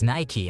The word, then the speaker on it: Nike: She said something about how Americans are idiots for pronouncing Nike as Nike instead of Nike. I laughed a little and explained that Nike is the Greek goddess of victory, and that the Greek pronunciation was more like Nike, so neither of us were really correct.